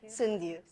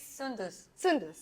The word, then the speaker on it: Soundous: us a beautiful stunning sundials I've got a pronunciation right I'm asking this on camera too it's sundus okay so hi sindhus welcome